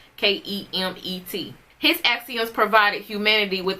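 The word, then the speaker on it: Kemet: Africans of that land kymmie or pronounced ke m ET his axioms provided humanity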